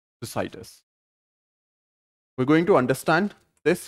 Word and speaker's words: Thucydides: this act to cytus however you understand that the correct freak pronunciation is two cdds for the purpose of this video I'm going to pronounce it as decidus we're going to understand